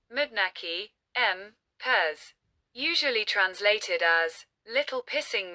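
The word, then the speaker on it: Manneken Pis: Nowadays, the name Mannequin Pis, Dutch, pronounced Mudnaki, M. Pez, usually translated as little pissing man or little peeing man in English, is official in both French and Dutch.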